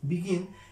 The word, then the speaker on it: begin: Cuando nosotros decimos happen y cuando decimos begin, estamos haciendo fuerza en sílabas diferentes. Cuando decimos happen, estamos haciendo el acento en la primera sílaba, happen. Cuando decimos begin, estamos haciendo el acento en la segunda sílaba.